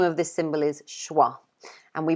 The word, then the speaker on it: schwa: This symbol here, the name of this symbol is schwa. And we pronounce this symbol like that.